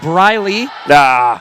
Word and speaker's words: Breeley: Also, John, we got Wade in the comments telling us Breeley is pronounced Briley.